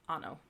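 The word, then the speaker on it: hanno: but it's just pronounced ano so the H is always silent and then q u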